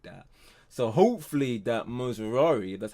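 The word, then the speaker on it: Mazraoui: asked you know like that so hopefully that moosari that's how you pronounce his name you yeah we do good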